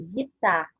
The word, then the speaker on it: guitarra: Em palavras como gula, a letra U é pronunciada. Já palavras como guitarra e caranguejo, a letra U não é pronunciada.